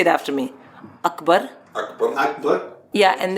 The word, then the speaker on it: Akbar: Akbar. Akbar? Yeah, and it's Akbar, not Akbar.